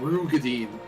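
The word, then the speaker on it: Roegadyn: Apparently it's Rugadine. Rugadine? Yeah. It's like it comes up at one point in the Dawn Trail MSQ, where the character pronounces it Rugadine.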